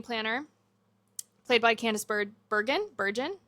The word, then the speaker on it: Bergen: Burgon is how you say it. Bergen, I think.